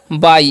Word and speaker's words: bye: देखिए, बी का उच्चारण करते हैं ब और वाई का उच्चारण करते हैं ई। ठीक है, वाई है ना, उसका उच्चारण आई कर देते तो हो गया बाई। इसे हम क्या पढ़ते हैं, बाई पढ़ते हैं। ठीक है, बाय नहीं।